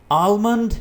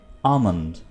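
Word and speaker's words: almond: आलमंड नहीं होता दोस्तों, आप इसको प्रोनाउंस करेंगे आमंड।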